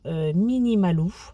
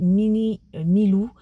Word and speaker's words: Mini Malou: à pas proposé par Mini Malou. Alors désolée pour mon erreur de prononciation sur la précédente vidéo. J'ai prononcé Mini Milou et c'est Mini Malou.